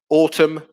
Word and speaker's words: autumn: a silent g there autumn uh where there's a silent n vineyard um where you